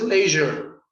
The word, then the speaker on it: leisure: Okay, I think it's leisure. Leisure is correct. It's the zh sound, which you don't really use in Spanish.